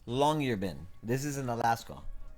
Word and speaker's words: Longyearbyen: It's pronounced Longyearbyen. This is in Alaska. It's pronounced Longyearbyen, Alaska.